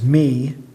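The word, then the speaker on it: μι: Remember, if it's got an omega ending or a mu iota, which is me, is how you pronounce that, like diknumi.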